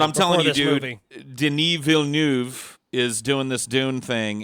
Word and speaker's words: Villeneuve: of tees but I'm telling you dude denis villeneuve is doing this dune thing you mispronounced that butchered no no I got it right this time I called him Dennis Villanueva Paul no but French Navy dude Villanova he